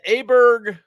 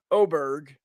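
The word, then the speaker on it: Åberg: different pronunciations with because he said it's an o sound because in Swedish it has an o above the A and that's what gives you the the sounding that was the Don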